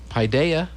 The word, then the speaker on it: Paideia: and i worked hard to make sure i pronounced it correctly pi paideia christian academy yep did i get it right